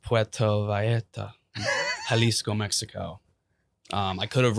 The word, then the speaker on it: Puerto Vallarta: The V is a B in Spanish. I need help, yeah. Puerto Vallarta. And the L's are silent. And the J is silent. It depends what like Spanish you're speaking too.